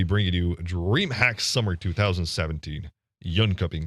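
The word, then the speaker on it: Jönköping: you Dreamhack summer 2017 young cupping did I say that good yeah you kind of did actually young shopping is how you say it but but you're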